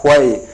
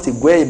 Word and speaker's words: Huey: And the second last player they have signed is Mark Huey. You may find it difficult to pronounce the name. It's not Higuain but Huey from the team of Barcelona for £5 million.